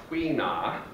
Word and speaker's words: tuina: we'll also do our other techniques um it's pronounced TWA and it's spelled like tuna with an i in the middle the other thing is that with twea is a really good friend of mine who's